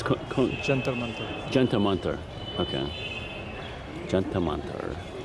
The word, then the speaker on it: Jantar Mantar: And how do you pronounce the observatory? It's Jantar Mantar.